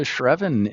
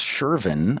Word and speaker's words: Shervin: Why don't we move on to Shreven? In unless you have anything further for Chen. no, let's do it. And I think I mispronounced that. It's Shervin, I believe.